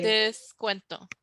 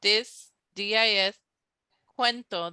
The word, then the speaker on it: descuento: So think about discount, how it's spelled Discount. Descuento is spelled same thing. It starts off the same. Dis, cuento. Then it turns into Cuento. Descuento. So it kind of sounds like discount.